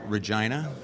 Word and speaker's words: Regina: in a town called Regina sweet joke is it rhymes with fun um and uh yeah